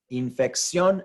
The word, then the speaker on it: infección: Infección, and any word that ends in sion, S-I-O-N or C-I-O-N, are going to have a stress syllable on the end. And they all end in the letter N, right? Sion. So if they end in those last four letters are C-I-O-N or S-I-O-N, we are going to write an accent mark on the O because the stress is on that sion syllable.